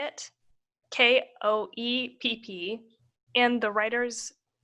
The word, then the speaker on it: Koepp: So the director is David Koepp, I think is how you say it. Koepp.